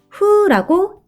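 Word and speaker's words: who: W H O 여기서는 W가 소리가 나지 않고 H는 흐 소리가 나고 O는 우 소리가 나요. 합쳐져서 후라고 읽으면 돼요.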